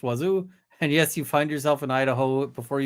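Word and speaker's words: Wazzu: is home of uh Wazoo locally pronounced Wazoo and yes you find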